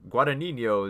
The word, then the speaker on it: Guadagnino: soon so for uh for Lucca let me pronounce this correctly for Luca Guadagnino 'he's Suspiria four out of